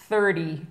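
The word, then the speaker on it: thirty: 30. Come again. Vous vous souvenez? Come again. 30. 30. 30. Ah, ouf, pas facile, hein, parce qu'en plus, on a le T qui se prononce presque comme un D.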